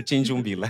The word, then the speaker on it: Tchinjumbila: Tinjumbila. Correto. Tinjumbila. Raramente as pessoas pronunciam meu nome.